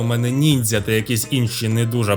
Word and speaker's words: ніндзя: Там ще, до речі, є прикол, що офіційно в українській неясно, як правильно ніндзя чи ніндзя, бо офіційних правил чомусь немає. Точніше, до оригіналу, звісно, нінджа, але якщо буде проскакувати у мене ніндзя та якісь інші не